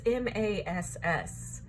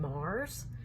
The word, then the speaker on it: Mass: It's M-A-S-S. To me, that would be Mass, but I'm told we pronounce her last name Mars. There's no R in her name.